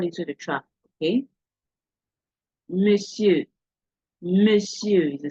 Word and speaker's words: monsieur: Monsieur is a silent T that is there, even though you are saying on. Okay. Monsieur.